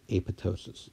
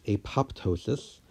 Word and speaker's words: apoptosis: pronunciation of the word a pitocin so I am pronouncing it correctly with the silenced P yes many people will call this apoptosis but if you go